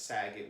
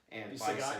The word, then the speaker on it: Sagat: fight individually with obviously the likes of Saget would whoop his ass, and Sagat, you mean? However you want to say his name. Whenever you say Saget, I think of Bob Saget.